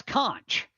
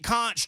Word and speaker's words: conch: How do you pronounce that word, by the way? Co. Which word? C N C H. Oh, that's conch. See, I went Kunchch, too.